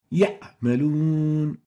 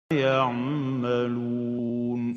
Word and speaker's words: يعملون: First mistake is truncating the pronunciation of the Ain when it is sakina, when it has sukun. Example, يعملون, يعملون. This is wrong. The right way of pronouncing it is يعملون.